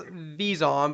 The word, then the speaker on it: Vezon: Vezon. It's pronounced Vizon, but he goes Vazon.